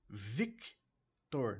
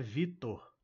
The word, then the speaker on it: Victor: u no final e Victor não é Vitor é vior Victor Victor